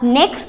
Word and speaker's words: knock: अब next word है KNIT।